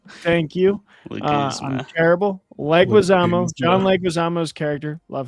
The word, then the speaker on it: Leguizamo: Like, is it Leguzma? I'm so bad with names. Leguizamo. John Leguizamo. Thank you. Leguzma. I'm terrible. Leguizamo.